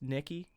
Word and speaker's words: NKY: I think it's pronounced Nikki. It's NKY. Yeah. Is that right? Just Nikki?